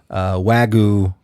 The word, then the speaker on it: Wagyu: My traditional last meal would be a giant bone-in Wagyu. That's how you pronounce it.